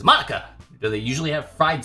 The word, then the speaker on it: Monica: right in your name Mona that's not how you say my name at all says Monica also that jok makes